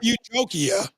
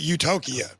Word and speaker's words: Utokia: Not Yep. Utopia, but Utokia.